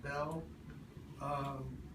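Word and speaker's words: Beale: some people named Bell spelled b-e-a-l-e but it's pronounced Bell took over in the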